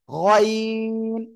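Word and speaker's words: غين: ওকে, যাই হোক, আমরা গইন রে গাইন বলবো না, গইন, গইন আমরা এভাবে উচ্চারণটা করব।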